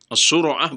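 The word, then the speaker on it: الصرعة: As-sura'ah bacanya begitu. Ala wazan fu'alah, seperti humazah.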